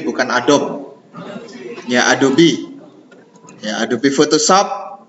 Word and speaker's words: Adobe: Bacanya Adobe, bukan Adobe.